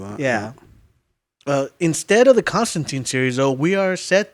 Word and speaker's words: Constantine: okay and I yeah I can't get my my brain to flip it to say Constantine yeah yeah it sounds weird yeah but it's technically the right pronunciation don't get crazy with